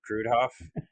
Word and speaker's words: Kruidhof: going to and you it's just like it's spelled dude what crud Hoff yeah and Technical sales